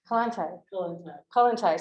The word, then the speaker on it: Kollontai: She's currently editing a collection of Alexandra Kollontai, how do you pronounce it? Kollontai, sorry, work for OR Books and international publishers, and she is writing the introduction to that volume.